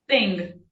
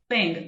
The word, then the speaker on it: thing: E em inglês é thing. Thing, também com a língua entre os dentes, né? Só no th.